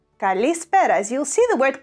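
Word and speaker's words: καλησπέρα: Kalispéra, Kalispéra.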